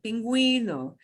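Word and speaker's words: pingüino: that you'll hear and one is pinguino penguino pinguino and we do pronounce to you because of that double dot over the you know and here's another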